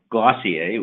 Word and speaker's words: Glossier: here's an example from glossier which is pronounced like dossier Valachi i mainly sells